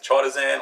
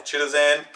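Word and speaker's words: chitosan: the sterox so it's impregnated with chatazan or chilizan depending where you come from and how you want to pronounce it and these work independently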